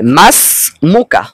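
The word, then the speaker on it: ما اسمك: এ কারণে আলিফ এবং হামজা কোনটাই উচ্চারিত হবে না। এখন আমরা উচ্চারণ করব এভাবে মাস মুকা অর্থ হল তোমার নাম কি?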